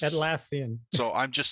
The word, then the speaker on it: Atlassian: jira incident because I don't know how to say atlassian or at laan or at I don't like saying it said it right at lassan so I'm just saying